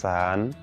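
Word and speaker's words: 四: তো আমরা যখন চায়নায় থাকবো তখন হচ্ছে এই স বলার সময় একটু সাবধানে স এর উচ্চারণ করব।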